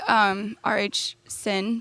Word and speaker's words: R.H. Sin: I really like R.H. Sin books. I think that's how you say it. R.H.S.I.N.